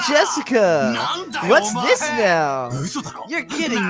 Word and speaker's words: Jessica: unlucky Star as me sharing the same kind of weird name you see it's pronounced Jessica she's dad's older brother's